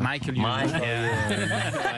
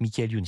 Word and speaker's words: Michael Youn: Tu le prononces à l'américaine, toi. Michael Youn. Michael Youn, ouais, c'est moins classe.